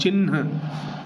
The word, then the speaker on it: चिन्ह: ची ह न, ये वाला ही, ए वाला ही सही उत्तर है। ची ह में हलंत और न, चिन्ह।